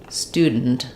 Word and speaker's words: student: have stress here but I don't say St andent I say student student we really compress and reduce that unstressed syllable I don't do that